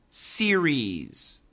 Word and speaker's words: series: Series. Two syllables. S E R I E S. Series. Series. Once again, the tip of the tongue touches nothing.